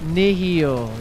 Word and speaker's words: Nihil: It's Nihil. Oh my god. Okay, alright. My bad. Am I saying it wrong? Okay, not this way either, I guess. Okay. I probably did say Neil once. But it's Nihil.